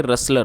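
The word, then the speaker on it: rustler: टी एल ई आर इसमें जो टी है वो साइलेंट है तो इसको नहीं पढ़ा जाएगा इसको हम पढ़ेंगे रेसलर और रेसलर का आप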